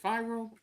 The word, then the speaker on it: Fyro: Is it Fyro? Yes, you were actually the only person that's ever said it right.